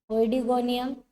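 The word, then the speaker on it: Oedogonium: So example for algae are eulothrix, okay, oedigonium, थोड़ा सा pronunciation ध्यान देना, ओइडिगोनियम, स्पाइरोगायरा and zygnema.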